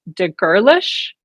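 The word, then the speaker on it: de Gerlache: chat earlier today that it's pronounced de girlish I think so I'm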